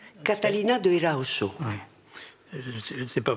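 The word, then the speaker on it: Erauso: Catalina de Eraoso. Oui. Je ne sais pas prononcer. Le S, c'est che en basque. Si vous dites Catalina de Eraoso, les Basques vous regardent Eraoso.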